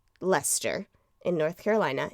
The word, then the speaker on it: Leicester: By the way, I watched multiple YouTube videos on how to pronounce Leicester in North Carolina. It is spelled Leicester, and it's pronounced Leicester.